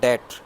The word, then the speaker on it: debt: तीसरा fiscal policy में आता है पब्लिक डेट, DEBT, डेब्ट नहीं है, वो होता ये डेट है, DEBT, डेट, इसमें बी साइलेंट।